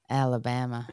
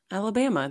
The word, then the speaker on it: Alabama: Alabama. How do you say it? Alabama. There's no R.